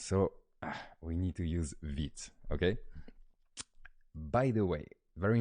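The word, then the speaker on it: Vite: Built tool today is vids I know it's a bit weird we pronounced that vid it's the word is vit it's a fast I mean quick in French so it's with a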